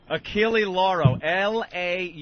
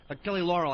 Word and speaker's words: Achille Lauro: Achille Lauro. Lauro. The L is silent. It's the Achille Lauro. I've been saying it wrong. What year was that? You have? Achille Laurel, I thought it was.